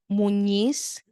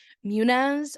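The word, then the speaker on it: Muniz: So, Mike, so in uh Spanish language, so in the Spanish language, my last name is pronounced munis. The n is called the tild. Uhhuh. Um, and my married name is. So, it's Munice. M U N I Z. So, in English, um, it's sometimes pronounced munas or months, but it it's actually munis.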